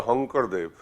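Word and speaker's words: Sankardev: And you go to Assam, there is a saint named Shankardev. In Assam, they pronounce it as a Hankardev.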